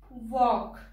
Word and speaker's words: walk: Next is L. Palm, come. L hai, par sound nahi dete. Ki bolenge? Palm, come. Chalk, talk, walk. Fork, yoke, and half. In all these words, the L is silent.